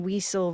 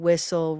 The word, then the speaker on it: whistle: So we don't want to practice saying weeman, weasel, ring, initial. We want women, whistle, ring, initial.